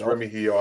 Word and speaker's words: Remigio: Micah, also, our Ross and Remigio, and thank you, Nico, for correcting my pronunciation. I appreciate you putting out there. Yes, Remigio, I appreciate it. I know you watch. Obviously, you had to correct me last night. I apologize. It will never happen again. No more G pronunciation in the name.